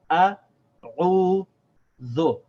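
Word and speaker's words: أعوذ: So we have a, u, dhu, a'udhu.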